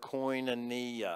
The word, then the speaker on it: koinonia: right now we're going to say this word coin and knee everybody say that write that down if you